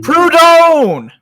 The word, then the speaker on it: Proudhon: I can't pronounce his name. Proudhon!